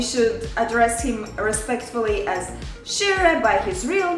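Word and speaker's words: Kyrre: discovery for me because i thought it was kira so now i know it's shira why it is so important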